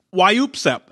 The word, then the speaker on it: WYOOPSEP: new favorite term and I'm gonna pronounce it for you a couple times why you upset why EWP's up so it's kind of like a sneeze right and it's kind of like an involuntary cough and it's why you